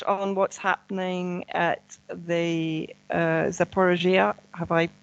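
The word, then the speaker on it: Zaporizhzhia: Can we just touch on what's happening at the Zaporizhia? Have I pronounced it correctly? Zaporozhye.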